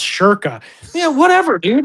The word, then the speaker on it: Schoenke: by being like, oh, it's spelt Schoenke, but it's pronounced Shirka.